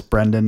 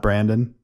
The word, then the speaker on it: Brendan: And it's Brendan, not Brandon. So that's a common mistake, obviously.